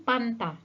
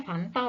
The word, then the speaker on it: Fanta: disitu jadi seharusnya cukur ada juga yang suka bilang minum pamta padahal seharusnya Fanta Loh Lalu kata vitamin